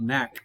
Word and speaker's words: NaK: We call it NAC because that's how it's spelled.